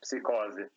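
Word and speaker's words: Psicose: no, it's yeah, it's hard to pronounce if you're not a native speaker, but it's psychose.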